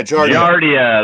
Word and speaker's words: Giardia: one that begins with the cheese I can't pronounce that word yeah I mean either gonna but yeah that's human Giardia yeah Giardia there we go they're not gonna allow that